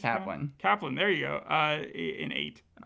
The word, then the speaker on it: Kaplan: I would have given it a 9 out of 10, but without Kaplan's character, Kaplan, whatever, how do you say Kaplan.